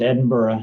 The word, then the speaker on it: Edinburgh: Uh it's pronounced Edinburgh even though there's a gh at the end.